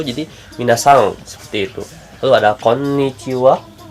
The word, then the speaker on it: konnichiwa: nyesal Steve lu ada Konichiwa Konichiwa ini ada dua jadi biar agak ditahan ya kayak kalau dalam bahasa